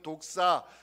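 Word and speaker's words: δόξα: 자 이번에 정리한번으면 좋겠습니다 영광 헬로로 발음하기 독사 이렇게 발음하는데 하나님의 임재를 가르칠 때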